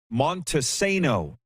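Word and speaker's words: Montesano: available on tds cable he says pronounced montessano or just monty i used to live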